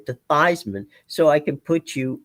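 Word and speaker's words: Theismann: Thyman's last name was actually Thesman. Roger Valdisari, who was the SID at the time at Notre Dame, told him, "We're changing your name to the pronunciation of your name to Thyman so I can put you on the cover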